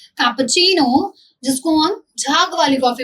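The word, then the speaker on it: cappuccino: कैसे प्रोनाउंस करोगे? Latte, got इट। आगे आते हैं कैपुचिनो। कैपुचिनो, repeat after me, कैपुचिनो।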